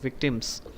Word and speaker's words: victims: শেষে এস গুলো কিন্তু উচ্চারণ হচ্ছে না, এগুলো করতে হবে, শেষে এস আছে, victims, ওকে victims ওকে হচ্ছে, আস্তে আস্তে কিন্তু হবে।